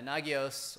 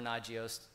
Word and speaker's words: Nagios: got things like uh nagios or nagios you can pronounce it either way I guess uh or ainga